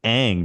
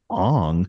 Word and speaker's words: Aang: Like it's Sokka and Aang, not Sokka and Ong.